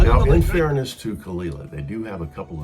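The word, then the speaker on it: Caol Ila: How do you pronounce it? Caol, yeah.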